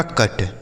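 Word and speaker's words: cut: सी से क, यू का उच्चारण अ और टी से ट, यह हो गया आपका कट।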